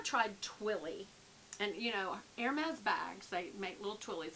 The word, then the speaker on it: Hermès: Twilly d' Hermès. It looks like Hermes, but it's Hermès. Hermès. But you do pronounce the S but as a Z.